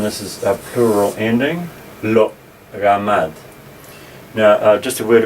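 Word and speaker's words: לא: Okay, so lo, and again this aleph here, in modern Hebrew at the end of the word it's usually not pronounced, they just say lo. But if we're pronouncing it we'll say lo, with the catch of air at the end.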